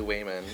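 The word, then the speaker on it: Waymond: their fight scenes, even Expendables, even like when Wayman's I know, I, character is like I always want super to say Raymond too.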